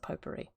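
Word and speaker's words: potpourri: It used to be quite an art actually making up your own popery and also written as pot po p o u r r i but I've always pronounced it popery.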